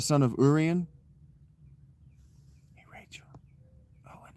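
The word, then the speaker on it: Owain: Owen is spelled o w a y or a i just like son.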